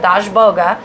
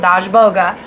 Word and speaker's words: Dazhboga: from her first and she calls him dash boga so that is why i call him dash boga so anybody out there going why are you throwing the a on the end it's because that's where i read it first and my brain works